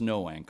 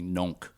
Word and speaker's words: Noank: right here in Noank uh and it is pronounced Noank of course uh my GPS was telling me NOK on the way here but I know I